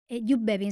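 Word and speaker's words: Joep Beving: fui a ver a Yup Bevin, que es un pianista holandés que me fascina, pues en la línea de Nils Fram. Maxister, B Mertens, Yup Bin se llama, se escribe Jo Bin y es maravilloso y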